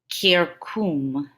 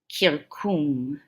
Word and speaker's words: circum: This one's pronounced kirkum, kirkum, and it means around.